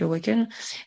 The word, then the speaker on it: AWKN: avec Awaken. Le nom vient d'où? Je crois que je t'ai pas posé la question, du coup. Je suis curieuse. C'est vrai, donc pour ceux qui nous écoutent, Awaken, ça s'écrit AWKN.